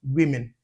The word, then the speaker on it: women: Like, so or can also give us the e sound. That's an exceptional case as in the plural of woman which is pronounced women. Women. Yeah. So the letter O and the letter E both give us the E sound women.